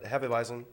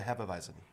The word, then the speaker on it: Hefeweizen: Hefeweizen, so more along the lines of a traditional German style. Now, so how did you pronounce this again? It's a Hefeweizen, Hefeweizen.